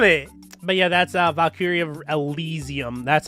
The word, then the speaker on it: Elysium: But yeah, that's Valkyria Elysium. That's how you say it. Yeah, it is Elysium, okay.